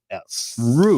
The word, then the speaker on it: Ruths: Roots. Oh, Roots. Roots. The Roots is on fire. You say it like ROOTS.